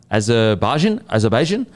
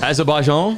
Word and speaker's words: Azerbaijan: Tune in this weekend to watch every practice qualifying session and Azerbaijan Grand Prix, live on Vox Sports. Race is on 9 p.m. Sunday night, Australian Standard Time. It's spelt A-Z-E-R. Azerbaijan.